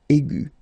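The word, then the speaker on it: aiguë: So aigu will become aigu. Another example is ambigu, and it will become ambigu. Okay, so you don't modify the way to pronounce them.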